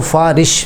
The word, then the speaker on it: سفارش: (سفارش) ہے۔ ہم اکثر اس کا تلفظ " دیکھا ہوا" کے نیچے کسرہ (زیر) کے ساتھ کرتے ہیں، جو غلط ہے۔ یہ دما ( پیش) کے ساتھ ہونا چاہئے، "سیفارش،" جس کا مطلب ہے شفاعت۔ اس کے بعد، ہم